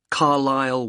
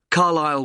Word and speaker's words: Carlisle: and your address 45 carlisle way could you spell carlisle for me sorry it's c a r l i s l e you don't pronounce the s carlisle way and that's in